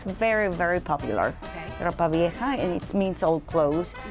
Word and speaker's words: ropa vieja: I would love to say it like you. Ropa vieja. I got to get lessons. But you have to do it with the action, with an attitude.